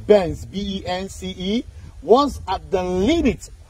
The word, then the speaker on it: Bence: Bounc Island originally Bence, okay. Now we get the actual pronunciation, Bence, B-E-N-C-E, was at the limit of the navigation for ocean-going vessels.